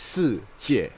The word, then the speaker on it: Shijie: Right, so it's pronounced as Shijie. Okay, so in Chinese, I guess it means the world.